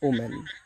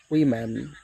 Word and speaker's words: women: Last one ইউ ক্যান সি, এটাকে আমরা কীভাবে উচ্চারণ করি? আমরা এটাকে বলি উমেন। দিস ইজ অ্যাবসোলিউটলি রং। এর সঠিক প্রনাউন্সিয়েশন হবে উইমেন।